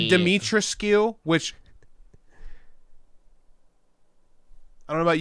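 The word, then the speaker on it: Dimitrescu: are are 100 well it's actually dimetreski it's like well it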